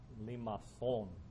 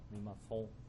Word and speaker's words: limaçon: I mean, this is a C with a little tail, and in France, it's called a limaçon. Limaçon. Anybody speak French? So that's how you say it.